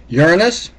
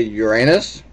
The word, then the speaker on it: Uranus: Uranus, please note how I pronounce that. We don't say Uranus, it's Uranus, and we can all figure out why.